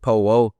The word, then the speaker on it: Powo: But when I was younger, I couldn't say Polo. I was pronouncing it Powo.